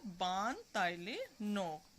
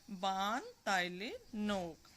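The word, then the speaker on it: Baan Talae Nok: बान ताइले नोक। मेरे साथ बोलिए आप भी, बान ताइले नोक। फिर से देखिए, बान ताइले नोक। Spelling BAANTALAE एंड NOK।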